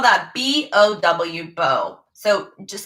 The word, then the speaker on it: bow: so we spell that b-o-w bow so just spell just like the bow that goes in your hair or a bow tie so this is a